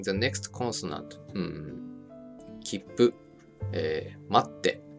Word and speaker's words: 待って: For now, just remember that when you see the small つ, you pause ever so slightly before pronouncing the next consonant. Kippu. 待って. Not a kitsupu. And not 待つて.